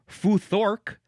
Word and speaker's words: futhark: You could also pronounce it fuor.